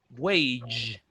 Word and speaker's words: wage: Wage. Wage. It's a little G. Wage. Wage. Don't confuse it with weight, Wage. which is peso, or weight of stop.